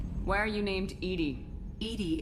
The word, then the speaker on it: EDI: are you named Edie Edie is the phonetic pronunciation of Ed I that is an acronym for enhanced defense intelligence where are you where